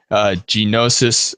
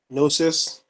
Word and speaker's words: Gnosis: Genosis, flow, of course. Oh, and RADS, but we already did that one. Kind of. Yeah. Well, let's start by saying it's probably Gnosis. Like the G is silent, so whatever.